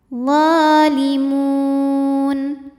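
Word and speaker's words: الظَّالِمُونَ: hukum alif lam namanya alif lam syamsiah sebab alif lam menghadapi huruf Syamsiah yaitu huruf d cara bacanya alif lam tidak tidak kita baca atau disebut dengan Idgham Syamsi laa yuflihud D hukum tajwidnya adalah Mad Thobi'i muqadar sebab D berharakat fathah panjang cara bacanya do panjang dua harakat doolimun Mun apabila berhenti hukumnya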